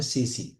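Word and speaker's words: tsetse: और ये एक मक्खी से होती है, उस मक्खी का नाम है CC। CC स्पेलिंग है TSE।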